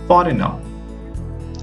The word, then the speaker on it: foreigner: Here in these words, we are not going to pronounce the letter G. So try to pronounce. The first pronunciation is foreigner, assign, design, align, campaign.